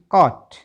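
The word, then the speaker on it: caught: कहाँ साइलेंट होता है, यदि किसी शब्द के अंत में GHT दे रखा हो तो GH पूरी तरह से साइलेंट होता है। BOUGST बॉट, CAUGST कॉट, BROUGST ब्रॉट, FOUGST फॉट, फॉट माने लड़ाई लड़ना।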